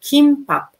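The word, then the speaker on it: 김밥: Sometimes they say G, sometimes they say K. So it depends on like a person. But personally, I usually say kimbap. When we say kimbap, I pronounce with K sound.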